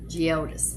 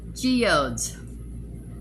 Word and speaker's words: Geodes: This is What's Up Beauty Geodis palette. I've got it written back here, so I know I said that right. Geodes. I said it wrong. Geodes.